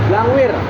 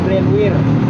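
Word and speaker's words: brandweer: Blangwir. Blangwir. Nah, blangwir. Kalau orang tua dulu tahunya Blangwir. Blwir. Nah, blangwir itu sebenarnya nama Belanda sebutannya. Kalau orang dulu kan salah ejaan ya. Sebarnya brandwir.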